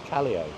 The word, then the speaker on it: Callao: Callao. Callao. Callao. Callao. Callao Savaki. Salvaje. It's a V is a B. So Callao, so it's C-A, Ca, and then double L is a Y, and then R-O, Callao.